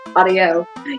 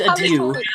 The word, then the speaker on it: adieu: please you until then audio yours fumbled do you blood mark it's pronounced adieu yeah whatever i do i don't believe it's pronounced that way i still scream and